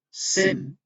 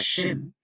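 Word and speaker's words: שם: La palabra Sem, que nosotros la pronunciamos como Sem, en hebreo Shem, que quiere decir nombre, ¿ya?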